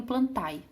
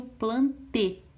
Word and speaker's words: Plantae: vejo, eles falam reino plantae. Gente, na botânica, quando termina a palavra em a, e, eu nunca pronuncio o ae, eu pronuncio só o e. Então aqui fica o reino plantê, tá?